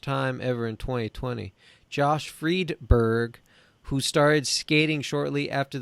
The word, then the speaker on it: Friedberg: Yeah, Friedberg.